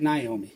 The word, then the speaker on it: Naomi: what Seth Meyers and he pronounces it Naomi so Naomi it is on the plus side